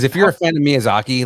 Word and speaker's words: Miyazaki: And how do you pronounce the the creator's name again? Miyazaki.